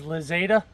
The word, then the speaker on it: Lixada: cup made of titanium the name is lzada rhymes with sakada which which we have